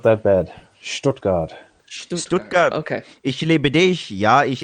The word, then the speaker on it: Stuttgart: watching in Stuttgart yawn still hasn't corrected my pronunciation strip card not that bad Stuttgart okay ich liebe dich yeah as a would